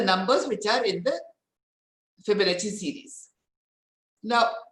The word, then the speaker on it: Fibonacci: which is spelled as with double c in italian we pronounced as cha so it is fibonacci and art fibonacci was